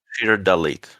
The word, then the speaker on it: Rak'Shir Dhalid: And just to make sure I do have this right, you would pronounce your character's name Rak'Shir Dhalid? Rak'Shir Dhalid, yes.